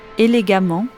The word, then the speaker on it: élégamment: exemple méchamment a2ment et élégamment A2 m vous noterez que l'on prononce de la même façon amant les deux graphies voici les points à